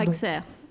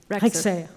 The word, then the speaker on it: Rexer: Rexer, je ne sais pas comment on prononce votre nom, excusez-moi. Pardon. Rexer. Rexer, ok.